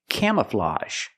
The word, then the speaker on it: camouflage: Again, the a ge makes the open sound a plus the sound. A camouflage. The first syllable is a the open a sound like ma'am and ham. Cam. Came. The second syllable is relaxed closed. Uh uh uh. Cam camouflage. And that a ge makes the a sound like in garage and massage.